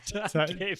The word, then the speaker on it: Stankiewicz: Stankiewicz. That's how you're supposed to pronounce it. Yeah. Get out. Really? Yeah, Dr. yeah. Stankiewicz. Polish way, yeah.